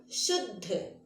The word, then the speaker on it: शुद्ध: लोग इसे समझते हैं कि यहाँ पर दा पूरा है और धा आधा है, लेकिन बच्चों ऐसी बात नहीं है। बोलते हैं जब हम शुद्ध, तो सुनिए उच्चारण में हम पहले क्या बोल रहे हैं, शुद्ध। हम दा को तुरंत बोल रहे हैं और धा में टिक रहे हैं, धा को बाद में बोल रहे हैं, है ना।